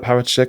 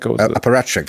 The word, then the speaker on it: apparatchik: How do you say that word? Parachik? Apparatchik. Apparatchik.